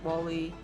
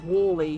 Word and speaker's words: WALL-E: See, if I try to pronounce wall like you would in a British English accent, then it would be Wally, which is not his name.